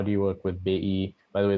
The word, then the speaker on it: BI: do you work with bai by the way those are the indonesian pronunciations of ojk and bi i speak to the